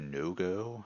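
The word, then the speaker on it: Vodongo: that is the do no-go is that how you say that it's v-o-d-o-n-g-o so I would assume it is pronounced a no-go snakes so they move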